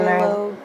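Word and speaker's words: Mari Lwyd: And it reminds me of, like, Mary Lode. Or is that how it's pronounced? Yeah, Mary Lode.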